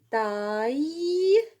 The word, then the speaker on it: taille: Un taille. Taille. Deux L se prononcent ye.